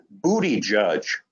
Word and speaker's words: Buttigieg: And I came across his article indicating that that was a shortcut way to get close to the pronunciation.